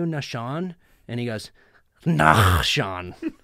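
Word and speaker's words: Nahshon: funny we're in usada after the matches and nashon comes in I'm sitting there with Zane and uh that you saw the lady goes are you in nashon and he goes nah Sean it's pronounced I was like oh my gosh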